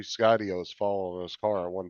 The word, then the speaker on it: Skydio: He used to just call them Skidios. He mispronounced it. He'd say Skidio.